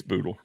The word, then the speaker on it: Bootle: It's Boodle. It is Boodle for sure.